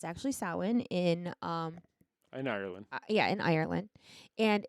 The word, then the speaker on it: Samhain: It's actually Samhain in Ireland.